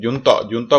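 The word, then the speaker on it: junta: उसको हम बोलते हैं जुनता बोलते हैं बेसिकली इसको। जनता यू साइलेंट है, जनता बोलते हैं इसको।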